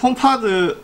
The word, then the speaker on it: pod: 늘어났다 이렇게 느낀다는 거죠 가장 큰 이유 그러면 파드 또이 포드도 아니죠 왜 포라고 우리나라에서 발음하는지 모르겠는데 제가 영어를 달해서 그런게 아니라 원래